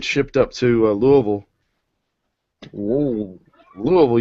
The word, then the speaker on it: Louisville: Louisville, you gotta say it right. Louisville, yeah, it's almost like you're throwing up. Louisville. Like one syllable.